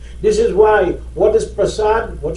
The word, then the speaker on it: Prasad: Some people say Prasad, some people say Prasad. The correct thing is really the Prasad. Prasad, not Prasad. The Prasad really is a little Bhojpuri twist, twang type of thing.